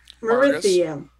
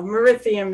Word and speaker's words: Morithium: know elven names uh marithiam it's what no morithium is the capital and it's